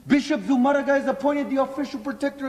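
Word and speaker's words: Zumárraga: Bishop Zumaraga. Bishop Zumaraga. Z U M A R R A G A with the accent on the U. Bishop Zumaraga is appointed the official protector of the natives.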